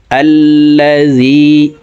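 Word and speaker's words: الَّذِي: আল্লাযী, এখানে যদিও আলিফের উপরে জবর নাই, জবর দিয়ে হামজা বলে তাসদিদওয়ালা লামকে ধরব। তাসদিদওয়ালা হরফ দুইবার উচ্চারণ করিয়া পড়িতে হয়, একবার পূর্বের হরকতের সঙ্গে আরেকবার নিজ হরকতের উচ্চারণ হবে।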